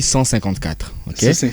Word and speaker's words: CLIV: chiffres romain ok exactement on écrit troupe Clive mais on lit 154 et là c'est sur